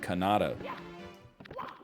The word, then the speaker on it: Kanata: man you think i mispronounced canada i didn't mispronounce canada there's a city in ontario called kanata i don't go like well you said wegmans